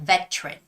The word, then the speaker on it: veteran: a British English way it's more like veteran veteran so you make that hard T sound which is a veteran but still the stress goes on the first syllable so it's got to